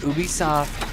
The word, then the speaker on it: Ubisoft: Yeah, it's Ubisoft.